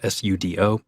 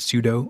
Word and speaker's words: sudo: a command called sudo the command is spelled s-u-d-o and is commonly pronounced pseudo or sudo we only want to